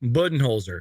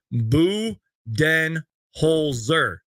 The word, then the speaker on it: Budenholzer: name correctly here Mike bu holer so it's buen holer did I say that right I hope I didn't just